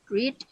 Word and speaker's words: read: Bentuk pertama read, bentuk kedua penulisannya sama, hanya saja cara membacanya berbeda, yaitu read. Read dan read.